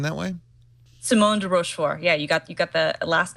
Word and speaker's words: Simone de Rochefort: Does Simone de Rochefort pronounce her name that way? Simone de Rochefort.